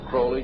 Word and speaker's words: Crowley: or develop Aleister Crowley he likes to have his name pronounced Crowley to rhyme with holy and the statements today